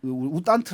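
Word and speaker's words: U Thant: 그까 1961년부터 어 그 우딴 우탄트 아고 보통 발음을 하는데 우당이 외교관이 유 사무총장을 했었고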